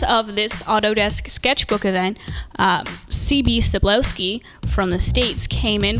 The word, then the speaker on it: C.B. Cebulski: I'm here at Autodesk Sketchbook event with CB Cebulski. Hey, how's everybody going? Did I pronounce that right?